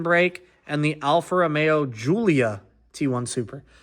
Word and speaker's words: Giulia: I get so much crap told to me because I pronounced that wrong. That time I think I got it right. I always say Gia and they're like, "That's not what it's called."